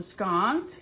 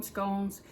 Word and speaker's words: scone: might call them scon you might call them scones I call them scones because that's just what I've always done there is no right or wrong way to pronounce it just pronounce it the way that feels comfortable to you now classic English scones